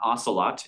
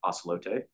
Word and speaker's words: Ocelote: middle child is ocelote it's not acelot it's the Spanish pronunciation of the word so ocelote uh this went online